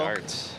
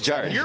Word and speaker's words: Jart: The American pronunciation is Jart. It actually is pronounced Jart over here.